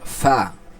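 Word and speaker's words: فاء: দুই অংশের নিচের অংশ নিচের ঠোঁটের পেটের সঙ্গে লাগাইয়া যে উচ্চারণ হবে সেটা হলো কি ফা সেটাই হলো কি ফা ফা আচ্ছা এরপরে পরেরটা আমরা দেখি।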